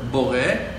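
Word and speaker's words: בורא: Aleph is a silent letter here in this word Bore, but still it's written, so it means something that it's silent, but it, and also it means something that it's there. You're not pronouncing it, you cannot hear it, but it's there in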